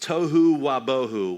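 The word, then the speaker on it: תֹּהוּ וָבֹהוּ: It's pronounced tohu wabohu, which is fun to say.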